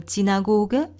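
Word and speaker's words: Synagoge: 비엔나에 2차 세계대전 이전에 100개가 넘는 유대인들이 기도할 수 있는 기도의 집들이 독일말로 지나고게, 영어로는 시나고그 이렇게 발음하는 집이 있는데요.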